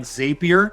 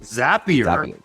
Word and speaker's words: Zapier: and your first-party online ordering systems tools like zapier or excuse me you know what I've been corrected on this several times it's pronounced zapier you know it's spelled zapier and I've been